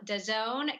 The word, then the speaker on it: DAZN: welcome our first guest, Kevin Mayer, chairman of DAZN. Kevin, thank you so much for joining us. All right, let's get started. Please join me in welcoming our first guest of the day, Kevin Mayer, chairman of DAZN.